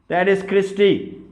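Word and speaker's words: cristae: और आपका बच गया दैट इज क्रिस्टी या क्रिस्टे, दोनों प्रोनाउंसिएशन ठीक है।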